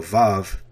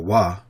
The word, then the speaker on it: Vav: Although one of the simplest letters to write, vav or wa, which is what it should be, which what it should say, has many different meanings and usages.